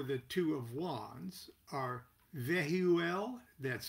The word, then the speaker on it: Vehuel: two of wands are vehuel that's v e h u e l sounded out phonetically or that v could be sound out as a as a ul and the buzzwords for